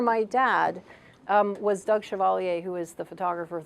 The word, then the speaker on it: Chevalier: the place pardon maurice it's like maurice chevalier yes but i'm not related sadly however my dad um was doug chevalier who is the photographer